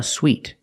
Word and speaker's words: suite: And this word sweet, pronounced exactly the same, has two different meanings.